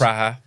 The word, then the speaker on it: Praha: Praha. It's pronounced Pra.